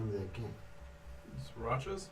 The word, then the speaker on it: Sriracha: name of that game srirachas the srirachas is actually sriracha like this like the sauce no i just can't